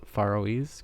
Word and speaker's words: Faroese: a farise folklore okay I'm pretty confident I said far faroes correctly there um I'm not going to lie I had to look up how to say that CU it's spelled f a r o e s e and um I don't